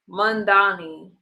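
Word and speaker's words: Mamdani: Mandani.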